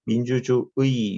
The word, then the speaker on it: 민주주의: 민주주의 요 부분은 뭘로도 발음된대요? 이로도 발음된대요. 의로도 발음 가능하고 이로도 가능하대요.